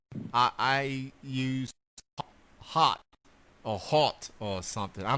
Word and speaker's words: Haupt: It's technically Haupt, but Haupt. And so just imagine being at the stage and you're being introduced, and then you have to immediately say it's hot.